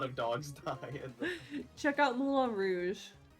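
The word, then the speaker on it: Moulin Rouge: dogs die check out Mula Rouge mul rou I've never seen this movie uh do you know how to spell it like Mulan like the Disney movie no m o u l i n m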